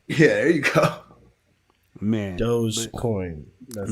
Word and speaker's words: Dogecoin: Dogecoin. That's how you say it. It's Dogecoin. It's pronounced D-O-H-J. Like that's the actual pronunciation.